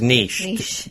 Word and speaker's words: niche: It's niche. Think of it spelled N-E-E-S-H. It's pronounced niche, not niche.